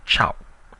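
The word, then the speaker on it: ခြောက်: It's now if I remind you that in Burmese six is pronounced chiao.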